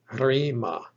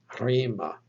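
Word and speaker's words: ῥῆμα: Take a look at this word, rho, eta, mi, alpha, pronounced rima, rima.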